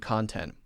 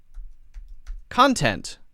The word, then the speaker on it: content: meanings of content and content that's a good question so the stress is different let's do this content noun content adjectives let's do it like that okay so content is the